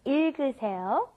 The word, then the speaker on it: 읽으세요: The I sound at the beginning, then it goes to the L, il. It goes in that order, il, and then g, that last G gets moved up in front of the next vowel.